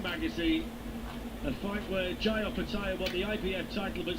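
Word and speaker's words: Opetaia: Opataya.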